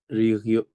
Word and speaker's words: région: la la Valle d'Aoste est une région নট রিজিয়ন। হুম রিজিয়ন না হয়ে ফরাসিতে আমরা কিভাবে উচ্চারণ করি?